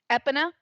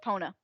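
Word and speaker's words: Epona: didn't know is um EPA as a kid I pronounced it aona I always pronounced it aona it's EPA I guess how do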